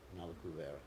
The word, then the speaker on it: Nalakuvara: Yeah, it's not actually Nalakuvara. It's Nalakuvara is the right pronunciation.